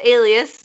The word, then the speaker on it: Alias: terms of waste anyway so alias and it's pronounced alias generally some people think it's Elias I thought it was aleus until literally about